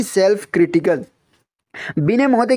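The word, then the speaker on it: Binet: हम चौथा और लास्ट एक डेफिनेशन देखते हैं, बिने। इंग्लिश में इसको बिनेट लिखा गया है, यहाँ पे टी साइलेंट है तो इसको बिने पढ़ा जाता है।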